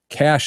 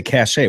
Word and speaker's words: cache: the assload of weapons the kesu shooter possessed cash is pronounced cash so cash with a ACC Senate e is pronounced cash what did I say cach a weapons cach a probably I don't I don't